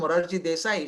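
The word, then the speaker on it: Morarji Desai: understood politics at all she could never never pronounce the word muradji desai should always say murari murari she will always call him i said why do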